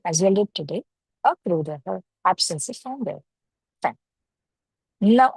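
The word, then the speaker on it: अक्रोधः: Akrodhaha, Akrodhaha. Okay. And what does it mean? absence of anger. Absence of anger. Perfect. Yes. So please make sure you'll make the correct pronunciation as you did today. Akrodhaha.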